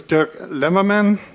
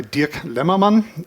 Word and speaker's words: Dirk Lemmermann: My name is Durk Lemurman uh or if you want to pronounce it in a German way, Dirk Leman and I work for